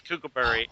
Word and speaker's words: Kookaburra: If anybody who doesn't know Perez's artwork, he does a book called Kookaburra. It's one of the several that he does. Is that right? Yeah. Am I saying it right? Yes, Kookaburra.